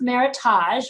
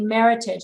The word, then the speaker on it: Meritage: this is considered a classic meritage it's not pronounced meritage most people like to say meritage because it makes it sound fancier but it's actually a meritage and meritage is a name it's a fictitious